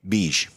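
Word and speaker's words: Begue: Spell that. B-E-G-U-E. Beige.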